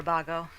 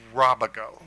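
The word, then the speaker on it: Rábago: Rabago. I hope I pronounced your name. Yeah, it's actually Robago.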